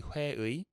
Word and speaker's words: 회의: And this one is 회의, technically 회의, but the that extra effort that needs to be put into it often leads to it getting skipped when pronounced in real life.